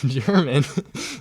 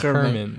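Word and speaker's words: Germán: German. How do you say his name? I think it's Herman.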